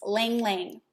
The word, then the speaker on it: Ylang Ylang: me y l a n g and it's pronounced lang ling and lang ling is the oil of the inner child lang